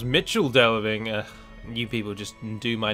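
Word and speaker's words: Michel Delving: really fight them or Michael delving sorry uh although it's supposed to be pronounced Mitchell delving you people just do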